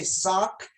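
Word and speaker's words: ศอก: would do the elbow you say sock you know spelled s-a-w-k but pronounce like the things that you wear um on your feet under you know um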